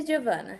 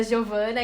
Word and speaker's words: Giovanna: pronúncia errada, porque eu tenho zero conhecimentos dessa pronúncia. É doutoressa, tá certo? Doutoressa Giovana, sim.